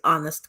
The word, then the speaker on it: Onest: This new series called, obviously, Onest Conversations. That's how we pronounce the whole name, ONEST.